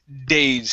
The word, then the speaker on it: days: go to the word days here so here you're using a spanish d saying these instead of these use a a d this is a hard d in english days a few days vase